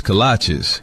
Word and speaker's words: kolache: What's a colache? Oh, cola cheese? Colache? Kolaches? Kolache? Like the shoes? No, that can't be right. It's kolache, but it don't matter